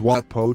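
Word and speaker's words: Wat Pho: that we come to the watfo temple which is pronounced as wat po temple there's more to watpo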